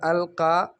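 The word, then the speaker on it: ألقى: کے معنی میں ہے، اور القى آخر میں آپ کو نظر آ رہا ہے یا، لیکن یہ یا نہیں ہے، یہ الف مقصورہ ہے، اور یہاں پر نطق کا جو ہم بولتے ہیں اس کا اعتبار ہے، جو مکتوب ہے اس کا اعتبار نہیں ہے۔ لکھنے میں تو بظاہر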